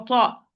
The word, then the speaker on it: ط: But ta, it is the only مفخم letter, it's the only heavy letter. So the back of the tongue must be raised when I pronounce the ta.